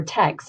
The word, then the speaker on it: TEKS: When you click this link, it will actually take you to the TEKS, or TEKS is really the pronunciation, but resource system link, which you will need to log into.